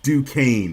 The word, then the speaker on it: Duquesne: It's Duquesne, brother. Duquesne. Duquesne. I should have known that from hearing Tone this whole time. My bad. Duquesne. I forgot the S is silent.